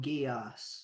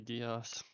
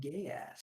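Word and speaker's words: geas: Must be Gias. Some people pronounce it gay ass.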